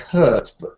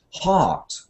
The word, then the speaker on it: heart: Yeah, well, this is another word on my list of mispronounced words because it sounds like hurt, but it isn't hurt. It's heart. You should say heart, like a car.